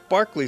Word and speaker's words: Berkeley: It looks like Berkeley Square, but it's pronounced Berkeley Square.